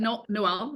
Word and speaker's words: Noelle: Is it Noelle? Is that how you pronounce it? Yep, you got it, Leah.